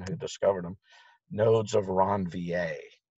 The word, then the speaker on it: Ranvier: Nodes of Ranvier. It's a French name, so it's spelled R-A-N-V, as in Victor, I-E-R, Ranvier. Almost everybody calls them nodes of Ranvier.